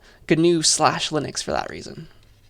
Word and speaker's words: GNU: spanish new but no this is gnu with a hard g and it stands for